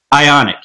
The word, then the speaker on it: Ioniq: How do you pronounce that again? Ioniq? Ioniq, yes.